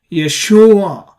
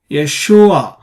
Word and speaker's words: Yeshua: on the syllable so the second syllable here shu is the stress syllable or a tonic syllable and we pronounce Yeshua Yeshua so a is a